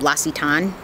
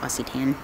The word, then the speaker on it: L'Occitane: Now, if you watched before some of my favorite videos, I love the almond oil by L'Occitane. I think is how you say it, L'Occitane.